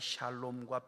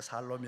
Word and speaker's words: 샬롬: 오늘 이제 마지막 시간에 우리 마음을 다 담아서 하나님께서 영육간의 샬롬과 평안과 행복이 가득히 뜨는 분이 되도록 샬롬 샬롬 시작. 샬롬. 샬롬. 발음을 잘하셔야 됩니다. 살롬이 아니고.